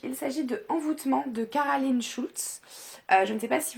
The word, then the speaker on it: Cara Lynn Shultz: On prononce comme ça, hein, Caroline Schulz.